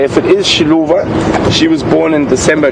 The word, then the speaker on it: Xiluva: So confirm the pronunciation on that again. Xiluva. Xiluva, yeah, but I think there was another Mafalingwe a couple of years ago, also that name.